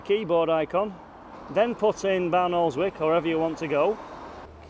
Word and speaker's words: Barnoldswick: Garmin to take us to barnoldswick or as the locals say balik another route but let's